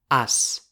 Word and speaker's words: als: In the plural, (a + los) gives us “als” (TO THE - plural). Without pronouncing the L. It is also possible to say .